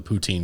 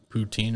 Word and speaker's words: poutine: And they did it poutine style, so they did it with the poutine gravy. Poutine, sorry, I said it wrong. Poutine with the mushroom gravy.